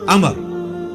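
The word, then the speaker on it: عمرو: इनका बहुत था अच्छा लेकिन वो लज ही गलत है ल उमरू तो कोई लफ ही नहीं है लज है अमर लिखा होता है उमरू लेकिन उसका मतलब वा जो है व साइलेंट होता है और वाव का मतलब यह है कि आपने इसे पेश की बजाय जबर से पढ़ना है उमर की बजाय पढ़ना है अमर तो हजरत अमर बिन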